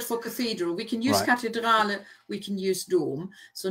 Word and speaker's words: Kathedrale: Remember, the German don't have a TH, so it's just pronounced like a T. So cathedrale.